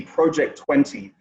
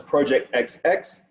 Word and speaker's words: Project XX: three which is the project 20. now a lot of people mispronounce this one as project xx totally understandable uh but